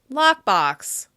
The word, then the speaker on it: lockbox: The next word we're going to look at is lockbox. Lockbox. Can you hear which syllable is stressed more in this word? Lockbox. Lockbox. That's right, the first syllable receives the most stress.